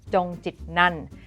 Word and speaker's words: Chongchitnant: And for the record, my last name is pronounced Chongchitnant.